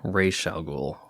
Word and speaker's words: Ra's al Ghul: No, occasionally do you pronounce it Raish al Ghul, right?